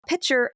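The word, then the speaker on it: Picher: so we're talking about pitcher Oklahoma for a little bit you ever heard of it like a water pitcher without the tea how do you spell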